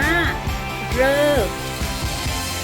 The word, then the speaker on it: ฤกษ์: มี สี ดำ และ คำ ที่ ระ ฤ ออก เสียง เป็น เหรอ เออ มี อยู่ คำ เดียว คือ คำ ว่า เลิก เลิก หมาย ถึง เวลา